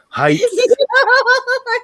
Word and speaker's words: height: Ava Bolton says, height doesn't have a THHH sound. That's cute. For some reason, I thought she said pH, and that like. Like the pH level. Height.